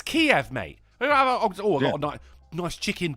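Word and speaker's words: Kyiv: all the joural were referring to Kev as keev yeah and I was like what what the is going oh but that's actually how it's pronounced I don't give a it's Kiev mate oh got nice chicken K always been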